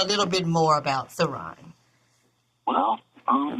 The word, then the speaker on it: Therron: he's my guest on today help me welcome theen welcome how are you sir how are you I'm doing wonderful I hope I'm pronouncing your name correct yeah you're close just say it f all right Theon thank you so much I'm so happy to